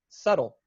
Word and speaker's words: subtle: And our first one is the silent letter B, as in subtle.